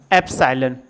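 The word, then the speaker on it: epsilon: हम पढ़ने हैं या इस वाली वैल्यू को अप्सायन यहां पर लिखा हुआ है एपीएसआइएलओ एन अप साइलेंट साइलेंट पढ़ा जाता है या इसी को बिलॉन्गस तू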